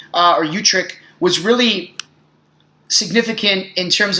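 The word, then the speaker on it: Utrecht: to give you guys it's the Treaty of utric which is actually a Dutch city where the treaty was signed it's spelled utr e CHT the Treaty of utric and the Treaty of utrich uh or utrick was really significant in terms of the colonial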